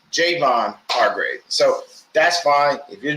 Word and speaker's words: Javon Hargrave: Because we have Javon Kinlaw, and I thought his name was Javon Hargrave, but it's Javon Hargrave.